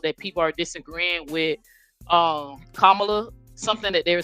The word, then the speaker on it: Kamala: But my mistake, it's actually Kamala, like Kamala, so it's Kamala Harris. And secondly, this is where I was talking about when I found out that people are disagreeing with Kamala.